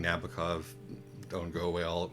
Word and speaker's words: Nabokov: do anything although um they all all of nabokov's uh all of nabokov's uh uh iterations in